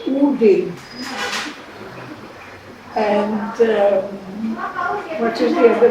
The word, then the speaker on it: Odin: And the godhead of the skies is written O-D-I-N. So we said Odin. He said no, you have to say Udin.